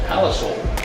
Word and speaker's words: Palisoul: I pronounce it Palisoul, Palisoul. but it is said So? soul, like the food. So? Yeah. Like soul food.